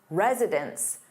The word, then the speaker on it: residence: meaning more than one, it sounds exactly the same as residence. Residence, which is a place where someone lives. So the pronunciation is virtually identical when resident is in the plural form and it sounds like residence.